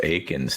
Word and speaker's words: Akins: And now you get to make another apology, JD, because it's Akins, not Eakins.